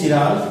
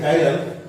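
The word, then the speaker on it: chiral: ठीक, लिखते हैं चिराल, पढ़ते हैं कायरल। क्योंकि किसी के साथ चिराल बोलेगा समझ जाएगा कि ये बहुत ही बेवकूफ आदमी है। ठीक, क्योंकि इसको पढ़ने में नहीं आता है। क्योंकि इसका सही प्रोनाउंसिएशन क्या है, कायरल।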